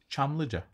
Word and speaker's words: Çamlıca: But to remember to pronounce it like that. Çamlıca.